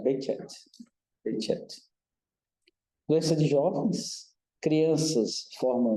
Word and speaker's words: Behçet: Aqui é o LUZ-BC, que em turco o correto é pronunciar Behçet.